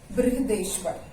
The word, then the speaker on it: बृहदेश्वर: Temple का नाम है बृहदेश्वर, BRIHADISVARA, बृहदेश्वर टेम्पल या मंदिर.